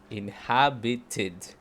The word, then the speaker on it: inhabited: Después todos los otros, fíjense, de todas estas palabras, la única en la que se pronuncia la E del ED es inhabited.